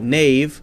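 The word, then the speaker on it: knave: the spelling hasn't really changed we say k-n-a-v-e nave like nave n-a-v-e but still spell it in the most ridiculous possible way i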